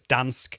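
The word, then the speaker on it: Gdańsk: in in Poland in Gdansk I don't think he pronounced that the the ger so its dansk which is on the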